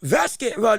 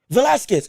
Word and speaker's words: Velasquez: And it's like, again, Vasquez, Vasquez, I believe that's how you say his name. Is that how you say his name? Velasquez. I'm sorry. Velasquez. My apologies. I read it wrong.